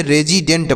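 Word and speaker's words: resident: और टी से ट इसे रेजिडेंट पढ़ेंगे यहां पर जो यस है इससे हम स नहीं पढ़ेंगे ज पढ़ेंगे यस का जो उच्चारण होता है वह स भी होता है और ज भी होता है दोनों होता है तो यहां पर हम स नहीं लिखेंगे य से ज का प्रयोग करेंगे तो यह रेजिडेंट हो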